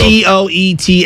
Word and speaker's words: Poeltl: Poetl. Yeah, Podol. I don't even know how to pronounce it. Jakob Poeltl. Yeah. Jakob Poeltl. But there's no R in it, but it's pronounced with an R?